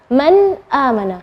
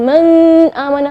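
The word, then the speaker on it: مَنْ آمَنَ: Man amana, nun sukun ketemu dengan hamzah, maka bacanya nunnya yang jelas. Man amana, bukan man amana, bukan. Man amana. Seperti itu cara membacanya.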